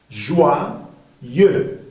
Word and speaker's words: joyeux: Entonces, o i suena wa. facil joie joyeux attention joyeux joyeux joyeux